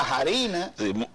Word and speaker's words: harina: porque la harina la harina sí mismo y no le bailaba por otra cosa harina porque la h se pronuncia como jotas y harina las harinas